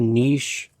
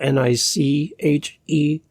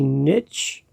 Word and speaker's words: niche: Here in Canada and outside of the U.S., we call it a niche because it's spelled N-I-C-H-E. It's not spelled N-I-T-C-H, which would be niche, like a ditch, D-I-T-C-H. And other words that would rhyme, I guess, which we won't say. We say niche, everyone.